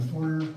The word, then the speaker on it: foyer: It's on your right in the foyer, or foyer, depending on how you like to pronounce it.